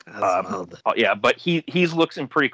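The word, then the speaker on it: Osvald: I believe his name is pronounced as Oswald. It's like O-S-V-A-L-D. Oswald.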